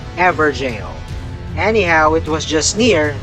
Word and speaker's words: Evergaol: Same goes for Evergaol. It’s really ‘ever-jail.’ Anyhow, it was just near the River Bank bonfire.